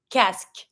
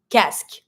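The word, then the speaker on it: casque: a helmet is a cask careful with the pronunciation on this one every time you have q u e you will never pronounce the U don't say c no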